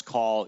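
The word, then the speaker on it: Kall: life I call call I call call his name is spelled k a l l but I refer to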